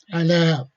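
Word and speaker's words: على: Ala, over here 3 letters, although pronouncing is only 2 letters. Ala, ya is the silent here.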